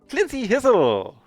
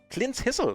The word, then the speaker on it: Clint's Hizzle: Clincy Hizzle! No, oh yeah, Clincy... Clint's Hizzle. Oh, I've been saying the name wrong all this time.